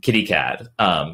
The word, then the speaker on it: KittyCAD: Kitty Cat. She was talking about a kitty cat, and she had a very kind of biased pronunciation towards the end, towards CAD, when she said it.